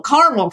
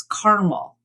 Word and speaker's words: caramel: So in the South of the US and in New England, the 3 syllable option is the one that people tend to use. In the Midwest and West, it's caramel.